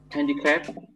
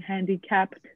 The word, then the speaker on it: handicapped: handicapped handicapped that was candy crab is it like touch-up yeah but you can't but you have to remember the ed at the end so it's you have to practice saying handicapped handicapped handicapped handicapped yes